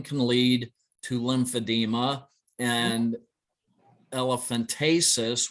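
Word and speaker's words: elephantiasis: lead to lymphedema and elephantasis which a lot of people mispronounce as elephantitis which can cause swelling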